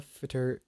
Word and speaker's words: Fitr: So yeah, essentially Eid Al Fitr, is it Fitr or Fight? You're saying it right.